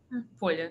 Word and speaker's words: Polya: Polya, it's fine.